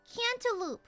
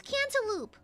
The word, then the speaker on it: cantaloupe: It's like I say canaloop because that's how my mom said it because because like it's cantaloup you know and so uh apparently it's cantaloupe.